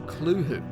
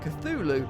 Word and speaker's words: Cthulhu: It should be noted that Lovecraft originally intended the name to be pronounced closer to klhul-hoo, because it originates in an alien language that can't be properly spoken by humans. However, the easier form, Cthulhu, is more prevalent, so that's what I'll